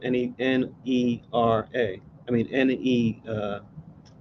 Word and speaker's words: Nerva: I mean N-E-R-V-A. Like instead of nervous, just switch the us with the A.